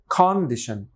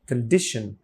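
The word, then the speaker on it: condition: প্রথমে ক সা সাউন্ড আছে হিসেবে হওয়া উচিত কন্ডিশন বাট স্ট্রেসটা রয়েছে এখানে এবং এখানে একটা শোয়া সাউন্ড আছে খ ছোট আ এর মত তাহলে হবে কন্ডিশন কন্ডিশন যতটুকু এসপারেটেড করলে মানে উচ্চারণটা হচ্ছে ততটুকুই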